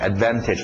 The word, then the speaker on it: advantage: Advantage, advantage. Pronúncia rápida, tira o T, advantage, advantage.